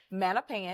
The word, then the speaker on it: Mattapan: I know that you started in back, is it Mattapan? Am I pronouncing that right? Mm-hmm. Mattapan. That is right.